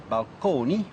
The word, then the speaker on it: balcony: lexicon to describe them so balcony still pronounced at that time in the Italian manner balcone as well as Fresco